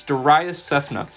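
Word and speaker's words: Darayus Sethna: It's Darius Sethna. It's spelled DARAYUS-SETHNA.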